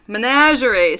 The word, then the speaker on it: menagerie: up of my brain it's spelled with a g and i think it should be a j at the measure measury menagerie sorry oh my gosh all